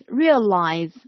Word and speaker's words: realize: grasp it yeah realize realize and the stress is on the first syllable real realize realize what